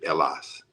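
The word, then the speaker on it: Hellas: could we say Greek they would have said elas with the H being silent h e l l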